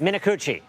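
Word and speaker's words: Minicucci: And you spoke with Alaska Airlines CEO Ben Min, you're going to have to pronounce his last name for me in an exclusive interview about these delays. Minuchi.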